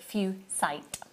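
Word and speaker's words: fuchsite: in it would yeah but you you do pronounce it few site that's bizarre because because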